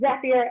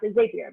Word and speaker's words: Zapier: And just for clarification, their slogan is Zapier makes you happier. So we can say with 99% certainty that it is pronounced Zapier and not Zapier, because Zapier makes you happier just doesn't make any sense.